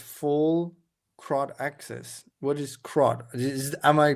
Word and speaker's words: CRUD: What is CRUD? Am I pronouncing create, read, update, delete?